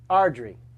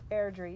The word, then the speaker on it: Airdrie: Yeah, at Ross_Owen from Ardry. You know, he spelled it phonetically for me back here. In the Oh, chat. then Sorry. Airdrie.